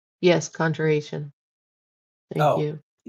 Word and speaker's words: conjuration: start be reading through a book on um, congregation. Just kind of studying up. Uh, I'm probably not saying it right. Conjure Conjuration. Yes. Conjuration.